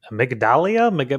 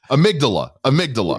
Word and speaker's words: Amygdala: Amygdalia? You know what? I don't know. I'm not even going to try. Amygdala.